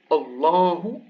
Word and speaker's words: الله: So here we have Allahu, Allahu, emphatic Allahu. But here, because there is a kasra before, it goes lillahi, lillahi.